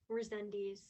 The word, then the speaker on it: Rezendes: Um, how do you pronounce your last name? Rezendes. A lot of Rezendes. people pronounce it Rezendes, and I don't correct them.